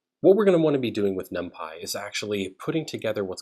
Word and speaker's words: NumPy: using for loops now the way you pronounce numpy is numpy it's not numpy numpy and essentially it's a